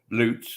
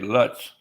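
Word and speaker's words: Lutz: of pronounce another like loots is l-u-t-z loots but a lot of people say Luts like nuts nope but That's the Way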